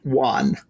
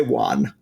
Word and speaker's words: wan: Let's say wan. Sure. When I say wan, it sounds like it should be spelled W-O-N, but that's one. And what W-A-N should be pronounced wan, but that's not how it's pronounced.